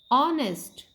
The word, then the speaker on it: honest: Honest. Here kids, this word is starting with consonant, but here H is silent.